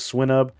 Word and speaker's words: Swinub: Now, I believe the correct pronunciation is Swinub.